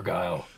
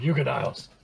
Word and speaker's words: Giles: I had to run in with your guile. You can fuck. That's not his name. I've been saying it wrong this whole time. Giles.